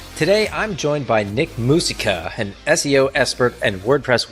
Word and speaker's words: Musica: and I just realized is it I said Musa because it like hearkened back to when I learned Spanish I don't know if it's mus or not but you tell me yeah it it's musica but you pronounce it any way you want all good